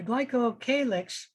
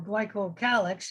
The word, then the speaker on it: glycocalyx: a little bit uh the glycocalyx or glycocalyx both pronunciations are correct is something that is